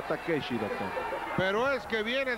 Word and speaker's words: Takeshi: oshi Ah bueno pero en japonés se pronuncia takeshi doctor pero es que